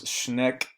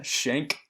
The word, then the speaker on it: Schenck: So the first major case to reach the High Court, and this was Schneck. How do you pronounce that? Yeah, Schenck versus the United States.